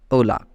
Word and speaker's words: hola: So the point is, whenever H comes in first of the word, means H letter comes in first of the word, then H remains silent and other words will be pronounced. So hello in English written as Hola, that is hola, but pronounced as hola. Okay, hola.